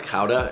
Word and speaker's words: gouda: what kind of cheese you could do smoked gouda that would be pretty gouda it's actually pronounced cauda and all the dutch people who are watching